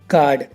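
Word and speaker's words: guard: For example guys, गार्ड। अब गार्ड में देखो गाइस, जी के बाद यू आया हुआ है तो यू साइलेंट है।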